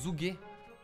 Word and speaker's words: Zhuge: Ça se prononce Zhuge.